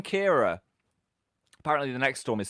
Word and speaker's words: Ciara: Storm Kiara? Ciara? Kara? I don't know how to say it. I've just read it. I didn't know how to say it. Kiara. Kara. Kira. It's Storm Kira.